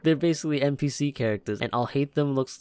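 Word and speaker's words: Alhaitham: What are you playing at, trying to ruin our business like this, Okay, so his name is pronounced I'll hate them.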